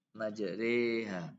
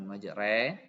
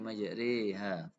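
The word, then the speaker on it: مجراها: Selanjutnya kalimat majriha dalam surat Hud ayat 41 Imam Hafiz membacanya dengan imalah. Imalah itu antara alif ya, antara alif dan ya. Majriha, bukan majre, tapi majriha. Itu ya, dibaca tipis.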